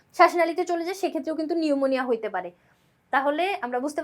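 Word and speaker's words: pneumonia: কিন্তু ইংরেজিতে যদি লিখতে যাও একটা পি আছে নামের শুরুতে পিটা কিন্তু সাইলেন্ট থাকবে পি এন ইউ এরকম করে মানে পিটা কিন্তু থাকবে নামের শুরুতে এই ভুলটা অনেকেই করে নামের শুরুতে পিটা দেয় না নিউমোনিয়া উচ্চারণ করে নিউমোকক্কাস এন দিয়ে শুরু করে দেয় কিন্তু এটা কিন্তু এন দিয়ে না পি থাকবে সামনে একটা সাইলেন্ট পি তাহলে নিউমোনিয়া কি একটা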